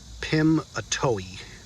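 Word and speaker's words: Pimiteoui: in 1910 when he was president so it's pronounced pim atoy it's good to know so i thought i'd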